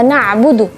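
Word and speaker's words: نعبد: Dan juga ketika melafalkan huruf ain, khususnya ketika sukun, ya hati-hati, jangan sampai kita membacanya hamzah. Misalnya iyyaka na'budu, bacanya na'budu.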